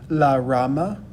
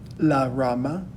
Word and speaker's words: rama: the word for branch we could pronounce it one of two different ways la rama la rama this might be the